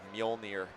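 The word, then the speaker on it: Mjölnir: I always like to I've told his dad I always think of Molir Thor's weapon when I hear that name. The Jay is silent.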